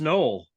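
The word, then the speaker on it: Nowell: I was like, what is it, Noel or Noel? The first Noel.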